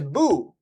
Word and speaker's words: Beau: It's literally pronounced Boo. Like literally pronounced Boo like like this guy right here. Like that's it's like look at this. It's pronounced Boo like this guy from Mario.